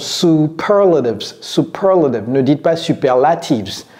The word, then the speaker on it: superlatives: All right, so when using superlatives, c'est comme ça que ça se prononce, superlatives, superlative.